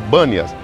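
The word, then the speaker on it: Banias: a palavra Bâneas, porque no árabe não se pronuncia a palavra Per, e ficou Bâneas, mas deriva do deus Pan.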